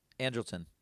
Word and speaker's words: Andrelton: Ruther pronounces baseball names. What's Simmons' first name for the Angels? Lon Andrelton. Simmons. Andrelton.